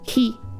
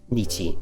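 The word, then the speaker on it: 日: by its lonesome it could be read as he which could mean day or you know so it could be used as sun as well i suppose um and it could also be niti which is um like for example nichiobi would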